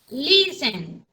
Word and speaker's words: listen: la fuerza de borla lleva en la primera sílaba por ejemplo si tenemos verbos listen donde le encuentran ustedes la fuerza de mohandiseen listen se le escucha en la él en la